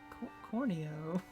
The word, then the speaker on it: Corneo: ball it's dawn corn holyoke uh no it's corneo i know that why did why did you get the name wrong then i didn't name this